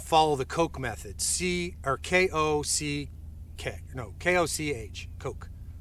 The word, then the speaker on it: Koch: So once you do that, then you want to follow the Koch method, K-O-C-H, Koch. I think that's pronounced Koch, like Heckler and Koch.